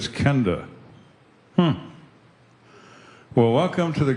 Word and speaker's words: Kenda: says how do you say that I said Kenda hmm well welcome to the greatest show on